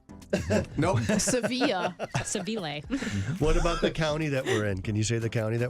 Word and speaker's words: Seville: You were so worried it was I pronounced was. like I really- Savili. Nope. Sevilla. Seville.